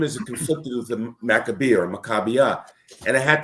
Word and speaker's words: Maccabee: So for years we called it Maccabee Games, and it's really Maccabee. The one thing it isn't is Maccabee.